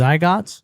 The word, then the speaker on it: zygote: Is it zygots? Zy zygote. You said it right. I remember that. I don't remember what it is, but I remember that's the that how you say it.